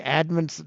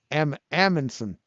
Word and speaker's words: Amundsen: Did I say Edmondson? Did I say Edmondson? I can't pronounce it. Amundsen.